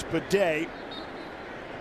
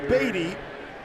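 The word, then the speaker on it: Badie: Handoff straight ahead, it's Bidet. who last year was Beatty and now is pronouncing his last name Bidet.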